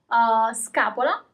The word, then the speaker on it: scapola: As usual, you always pronounce all the letters. Scarpe. Scaduto, expired. Scaduto. Okay. Scapola is another example. Scapola, shoulder blade.